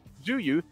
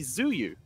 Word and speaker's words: Zhuyu: It is the Chinese way of pronouncing his name, and as such, we are going to respect that. That's how we pronounce Zhuyu, as opposed to the British pronunciation would be Zuyu.